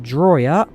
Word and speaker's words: Drawyah: in the grub glider my name's pronounced drawya belly landing not yet